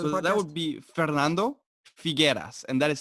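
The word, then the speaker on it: Figuera: once again for the that would be Fernando forget us and that is spelled F I GU er a yes we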